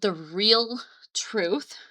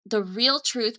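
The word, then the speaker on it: The Reel Truth: And it's called the real truth. real is spelled R E L like a real a film instead of R E A L but it's the real truth by Reed Martin.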